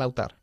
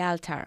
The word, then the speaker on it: altar: La pareja se arrodilló delante del altar. The couple knelt down in front of the altar. The altar se pronuncia, no alta.